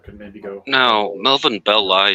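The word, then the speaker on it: Belli: maybe go no Melvin belly sounds so much better but did he actually pronounce it belly like that's what people say that that's the closest way to the way he said it but I just think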